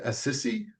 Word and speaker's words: Assisi: And then you also have um Saint Francis and is it Assisi?